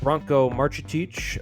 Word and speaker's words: Branko Marcetic: They are the vanquished vanquished We're now joined by uh Bronco Marchic.